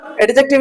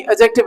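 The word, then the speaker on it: adjective: ये एडजेक्टिव है आपका, एडजेक्टिव नहीं एडजेक्टिव है ना, दी साइलेंट रहता है, अबंडेंट, एम्पल, ठीक है ना।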